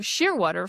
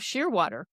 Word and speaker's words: Shearwater: So I came up with the idea of Shearwater for a surname. And I thought, No one could go wrong with that. It's pronounced exactly the way it's spelled.